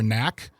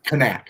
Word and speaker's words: Kak: And it seems like it seems like Mayor uh if I'm pronouncing his name correctly, Mayor Knack is Kak.